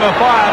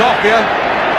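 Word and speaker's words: Offiah: They call him a fire because it rhymes with chariots. His real name is Offia.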